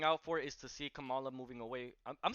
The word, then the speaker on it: Kamala: What I'm gonna be looking out for is to see Kamala moving away.